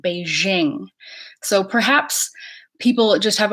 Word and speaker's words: Beijing: we think of Beijing I hear people from Beijing call Beijing Beijing and I hear everyone else call it Beijing so perhaps people just